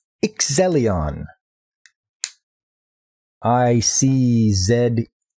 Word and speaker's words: Iczelion: sticky note watch Phantoms this anime is called excellion I see Zed e l i o n and yes I pronounce it Zed yeah so there's her power